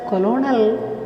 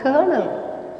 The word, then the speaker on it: colonel: army how to pronounce this word can we pronounce it as colonel no it should be pronounced as colonel the narrator stood by the side of the